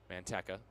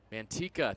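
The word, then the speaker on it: Manteca: Manteka. If I'm mispronouncing that, somebody aka Tyler Peterson, please correct me. Or anyone. Mantika, thank you. Vince coming in clutch. I had a feeling I I was messing that up.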